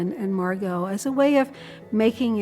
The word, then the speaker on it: Margot: Margo, you spell it M A R G O T. The T is silent, but Margo is not.